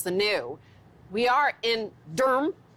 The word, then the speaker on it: Durham: new we are in Durham d-u-r-m as I pronounce it here that's why I